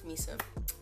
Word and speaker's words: Meese: Like, I'm trying to say the name because I don't think people know how to pronounce it properly. It's Meese.